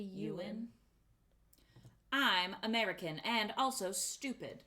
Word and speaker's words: Ewan: from Moulin rouge's name Ewan that's not how you say it did you know that it's supposed to be you win I'm American and also